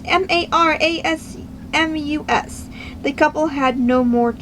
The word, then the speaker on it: marasmus: July 25th, 1866 of Maramosa of a, I cannot pronounce it. It's Marasmus.